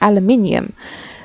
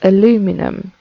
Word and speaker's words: aluminium: actually make uh aluminum it's so weird saying this for me it's aluminium but it's spelt aluminum in this mod pack i made some